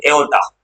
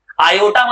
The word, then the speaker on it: aorta: हाँ AORTA, एओर्टा। आयोटा मत बोलना, आयोटा एक वर्ड होता है जो क्लास 11 से पढ़ना है, कॉम्प्लेक्स नंबर में आयोटा स्क्वायर -1 होता है।